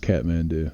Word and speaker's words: Kathmandu: a there's an example right there it is pronounced catmando do and that's how they spelled it yeah it